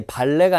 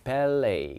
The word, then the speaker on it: ballet: 자, 발음이 발레가 아니라 ballet, 그지?